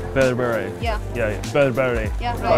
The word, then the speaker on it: berbere: We call it Berberi. Berberi. Yeah. Yeah, yeah. Berberi. Yeah. Am I pronouncing it right?